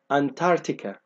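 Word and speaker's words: Antarctica: القارة اللي قدامي دي أنا المفروض ما انطقش السي اللي هنا فمش هنطق على إنها كده فتبقى أنتاركتيكا أنتاركتيكا أنتاركتيكا ما بنطقش السي.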